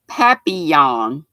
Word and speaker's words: papillon: gotcha and let's see or is it a pavilion you said knitting a looks like pavilion butterfly shawl but i've seen the papi yawn is how i pronounce it never never have